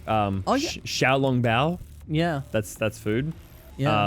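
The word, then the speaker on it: xiaolongbao: i know that um x's are actually pronounced with a shir rather than um azure i used to think it was je but that's zh yeah um yeah so like um xiao long bao yeah that's that's food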